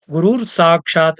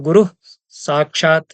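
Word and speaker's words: गुरुः साक्षात्: जब सब जगह गुरुर गुरुर है, उसके गुरुर में वो गुरुर साक्षात ऐसा उच्चारण करते हैं। रकार का तो विसर्ग हो जाएगा दंत्य सकार उसके आगे होने पर, तो गुरु साक्षात ऐसा ही कहना पड़ेगा।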